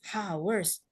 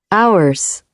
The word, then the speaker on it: hours: No, it's hours. Hang on a second. Let me share this one out. Let's listen. Ours.